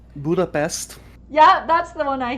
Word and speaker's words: Budapest: you pronounce that place budha budapes is how you say it yes a lot of a lot of people say it very different from that and there's always like